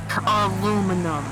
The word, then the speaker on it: aluminum: Aluminum. Aluminium. My God, why would you say it like that?